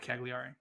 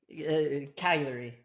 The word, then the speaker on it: Cagliari: Cagliari. You gotta Cagliari? hold the G a little bit.